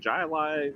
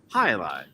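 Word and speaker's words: jai alai: name last night and i was like jai alive and i don't even think the waitress knew but i come on this show and you know i get told the proper pronunciation so i thought hi lie imagine if the waitress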